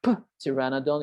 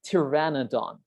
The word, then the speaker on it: pteranodon: flying reptile a pteranodon you don't say tyrannodont it's a silent p we say pteranodon that's the name of